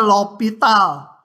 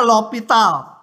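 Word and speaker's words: L'Hôpital: yang namanya Aturan ini bacanya lopital Ya ada yang nulisnya pakai S Hospital gitu enggak tahu tuh buku macam-macam nama sebenarnya enggak tahu karena orangnya juga meninggal t bacanya lopital Hnya enggak kebaca lopital dia memberikan alat untuk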